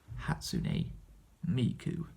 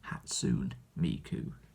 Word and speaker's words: Hatsune Miku: And funnily enough, that is the first time where I have actually pronounced her name correctly on this channel. Every other time I've mentioned her name, I've called her Hatsune Miku, which of course is not her name.